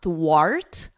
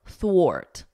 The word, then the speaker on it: thwart: So here, this is not an R sound. It's not thwart, art, like the R in cart. It's a or, thwart, ort, thwart.